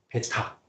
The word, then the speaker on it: 베타: B 아닙니다. 베타.